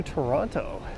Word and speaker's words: Toronto: welcome in advance to Toronto yes I tend to pronounce the second t on it I know this reset